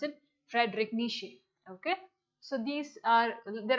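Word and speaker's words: Friedrich Nietzsche: e i e z but how did i pronounce it frederic nishi okay so these are there are a lot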